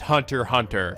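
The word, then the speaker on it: Hunter × Hunter: back with some more Hunter hunter yes you guys clarified the X in Hunter x Hunter is actually silent so it's just pronounced Hunter hunter that's how you know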